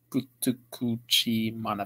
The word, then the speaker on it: Futakuchi Mana: Remember, stay big, Futakuchi Mana fans. Finally, I pronounced the name right.